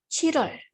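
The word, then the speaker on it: 칠월: Nah, sebenarnya kalau dibaca itu Chilwol karena kalau satu-satu, tapi kan kalau pengucapannya itu agak susah ya kalau Chilwol, Chilwol. Nah, kalau buat orang Korea itu agak susah. Jadi dibacanya itu Chirol, Chirol.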